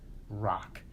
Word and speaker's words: Roque: But like we saw, so this dude, Rock, his name was Rock. It's a French name actually, spelled like Roque.